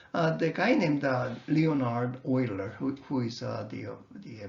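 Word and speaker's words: Euler: researched and published by oiler not it's a hula is a oiler it's a german way of already pronouncing his name the word i again was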